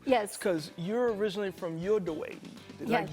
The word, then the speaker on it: Uruguay: Because you're originally from Uruguay. Yes. Did I say it right? Uruguay. Well, I was so off. Okay. You were close. You said Uruguay. Okay, Uruguay, right?